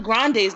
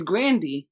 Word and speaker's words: Grande: out here saying ariana grande's name wrong it's grand it's not grande so who am i it's really grande it ain't grande it's not grande it's grandy but we make it granddaddy